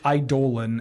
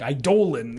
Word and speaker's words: Eidolon: Okay, yeah, I think technically it's Eidolon, and when Theros block was going around, there was like a very kind of like, hey, please call the cards by their names, and like Eidolon, you know, and people are like, it's Eidolon, Yeah.